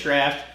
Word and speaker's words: Draught: So it's spelled Draught, but Guinness Draft.